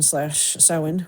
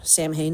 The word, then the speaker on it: Samhain: Like maybe, I forget, it was the autumnal equinox or October 31st, Halloween / Samhain, or Samhain as it's spelled.